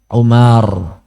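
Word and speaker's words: عمر: Ain mim ro bacanya Umar Kalau tulisannya Ain mim ro wau bacanya Amr itu bedanya ya Amru Amr maksudnya baik Anna rasulullahi Sallallahu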